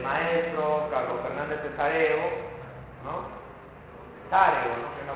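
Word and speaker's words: Sessarego: Cesareo, ¿no? Que es la pronunciación correcta.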